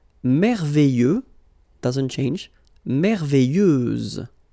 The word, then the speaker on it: merveilleuse: Merveilleuse, so final S, and then, what a surprise, you don't pronounce it.